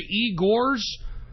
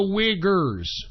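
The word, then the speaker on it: Uyghurs: how you pronounce it I thought it was the Igor's no it's the wiggers okay so anyway aside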